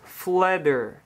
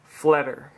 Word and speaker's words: Pflederer: You take off the P in the last ER and look at that, Pflederer, F-L-E-D-E-R, and that's how it's pronounced. So it's basically a silent P and a silent ER.